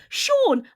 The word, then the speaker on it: Sean: Sean. Sean Bean should be pronounced Scene Bean.